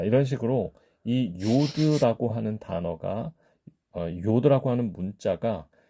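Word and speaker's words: יוד: 제의로 음역이 많이 되었다 그런데 그것이 사실 발음이 j의 발음이 아니고 독일어권에서 사용하는이 요트에 발음을 이렇게 한 것이기 때문에 사실은 y로 발음하는 것이 맞다 그렇게 좀 이해를 해 보시면 되겠습니다 자 이상으로 요드의 발음에 대해서 알아봤습니다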